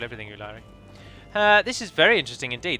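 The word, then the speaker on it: Úlairi: And then Lairi, like Lair with an I on the end. Ulairi. In fact, I thrust the word Ulairi down your throat so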